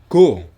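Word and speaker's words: ご: peti atas menjadi G go yaitu ko diberi dua peti atas menjadi go lalu berikutnya ZA itu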